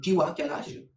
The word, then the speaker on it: tu as quel âge: Tu as quel âge?